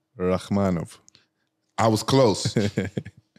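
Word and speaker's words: Rakhmonov: Rachmanov. I was close. Rachmanov. Oh, Shavkat Rachmanov. Uh-huh. Like how you know how to pronounce it?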